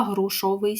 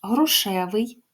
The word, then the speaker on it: грушевий: на спостереження Прочитайте діалог хто в діалозі припустився помилки у вимові прикметника чи можна покладатись лише на мовну інтуїцію будь ласка грушовий сік маленьку скляночку прошу ваш грушевий маленька зверніть увагу слово